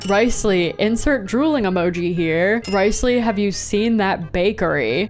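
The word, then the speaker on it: Wriothesley: It's Ricely. I sound like I'm a wrestling ring announcer. With 34.9% of positive votes. Ricely, I need that man like I need air. Ricely, insert drooling emoji here. Ricely, have you seen that bakery?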